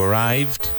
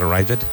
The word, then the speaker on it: arrived: You arrived, one syllable. You arrived, not arrived.